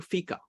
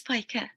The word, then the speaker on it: Pika: then let's go to fika I don't know whether I'm pronouncing a name uh correct yes hello it's Pika so my voice is